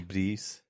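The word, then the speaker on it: Philippides: Philippidis? Yes, I Yeah. think that's the correct I pronunciation.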